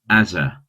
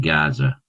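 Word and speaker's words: עזה: in this verse is spelt with an ayin, as in Azza rather than Gaza. It seems that two different pronunciations of ayin developed, one sounding like an A and the other like a guttural G.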